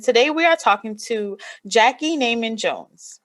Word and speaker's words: Jackey Neyman Jones: I am your girl, Kelly Edwards, and today we are talking to Jackey Neyman Jones, right?